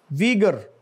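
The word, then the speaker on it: Uyghur: वीगर्स. वीगर, वीगर. At least in English it should be pronounced as वीगर.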